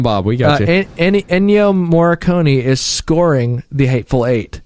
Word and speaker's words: Ennio Morricone: a lot of in yo I'm saying his name wrong ennio morricone they gathered i'm the guy right yeah he